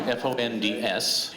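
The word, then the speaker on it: fonds: Fond, actually be fond, because it's French, okay? So those that know French, there's no vowel afterwards, so you don't pronounce it, but we call it fond.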